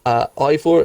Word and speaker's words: Eivor: No, I might be butchering it because I don't do Nordic pronunciations, but Ivor is pronounced it's spelt Eivor. And I think his full title is Ivor the Bearded.